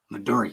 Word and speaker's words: Midori: You don't say it right though. Midori. You gotta say it like that.